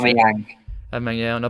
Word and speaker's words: Aubameyang: Just brought 3 shirts and ordered a new one with Abu Mang. I think About the way you no, pronounce it. Aubameyang.